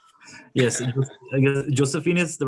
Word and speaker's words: Josephine: pinching myself to make sure i'm getting the pronunciation right yes josephine is the right pronunciation and the reason we